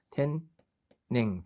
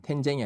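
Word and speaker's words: 天然: 그다음 우연할 때도 구젠, 필연할 때도 히즈젠 이렇게 젠젠인데 천연할 때는 텐 뭐였습니까? 이때만 예배적으로 뭐라고 읽힌다? 냉으로 읽힌다. 그래서 텐냉, 텐쟁이 아니죠.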